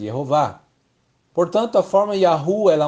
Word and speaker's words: Yehováh: do texto de Êxodo é uma rima e você vê para rimar somente se o nome era pronunciado jehová portanto a forma yahu